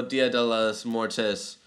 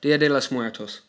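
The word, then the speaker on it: Día de los Muertos: is inspired by real dia de las mortes um i i totally butchered that dia de los muertos there you go traditions of honoring departed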